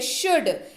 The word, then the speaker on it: should: बढ़ते हैं आगे, अगला शब्द है शुड, SHOULD, एल रहेगा साइलेंट, बन जाएगा शुड।